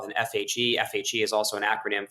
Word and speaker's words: FHE: have a chain called Phoenix uh here Phoenix spelled with an fhe fhe is also an acronym for fully homomorphic